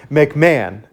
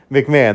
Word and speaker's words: McMahon: Oh man, I keep forgetting how to pronounce his last name. I just looked it up. McMahon. McMahon.